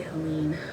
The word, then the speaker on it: Helene: She lost only one battle the pronunciation of her name. People in the Bottom refused to say Helene. They called her Helen Wright and left it at that.